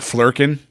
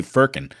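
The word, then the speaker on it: flerken: I kept wanting to say Firkin.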